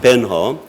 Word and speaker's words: 벤허: 벤후르. 히브리어로 발음하면 벤허.